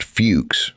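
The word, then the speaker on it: Fewkes: Jesse Walter Fuchs, pronounced Fuchs, recorded Hopi traditions during the late 19th century.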